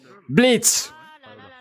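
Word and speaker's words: Blitzø: Blitz. On prononce pas le haut.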